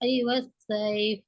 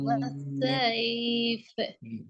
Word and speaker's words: والصيف: والصيف. ஆமா சார். எப்போதும் பாவம். إيلافهم رحلة الشتاء والصيف. நம்ம அந்த ஈட சவுண்ட் தெளிவில்லை. ஈ உச்சரிப்புல ஐ கலந்து வருது.